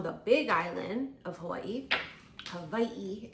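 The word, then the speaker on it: Hawaiʻi: Havi is technically the way we should be pronouncing it.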